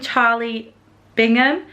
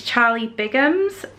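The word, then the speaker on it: Charlie Bigham's: it wrong as well I think I've been saying Charlie Bingham and it's Charlie bams um so sorry about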